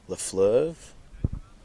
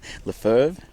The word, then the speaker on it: Lefebvre: Try scorers so far, we've had Lafleur, scored a couple. I've been pronouncing it wrong. Lefebvre with 2, and Carpenter now coming in with a 3 tries so far.